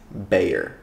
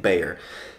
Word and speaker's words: Bexar: name come came from it's pronounced bayer like b-a-y-e-r so you're welcome for